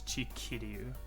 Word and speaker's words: Chikiryu: It's Chikiryu. There's now an I in between the Ryu and the K, just to make it sound better.